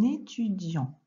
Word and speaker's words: étudiant: Alors, on fait la liaison maintenant, enfin, c'est un étudiant. Et tu vois qu'il y a un T qui est muet à la fin parce